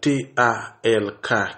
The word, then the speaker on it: talk: Et nous gagnons TALK qui fait talk. Elle l'a pas prononcé. Donc nous avons A plus L, ça fait O. O plus consonne un son intermédiaire entre O et A, quand on dit A, on dit talk.